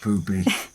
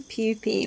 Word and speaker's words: pupi: Poopy. Yes. It's spelled different. It's P-U-P-I. But there we go. Maybe it is pupae, but that doesn't sound quite right.